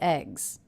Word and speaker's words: eggs: Also, the plural ending here, S, is pronounced as a Z. That's because the sound before, the G sound, is a voiced consonant. Eggs, eggs.